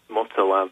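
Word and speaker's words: Mutallab: Well, yeah, this individual, Mulatab, I think his name is Mutalab is the pronunciation.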